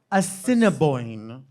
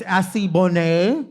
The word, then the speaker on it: Assiniboine: And I think that the name is Assiniboine, but we thought it was Assibonne.